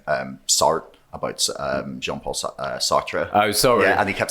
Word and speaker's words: Sartre: he kept saying um sorry about um jean-paul sartre oh sorry and he kept saying sort and i was just like you're a philosophy professor you should know how to pronounce the name that was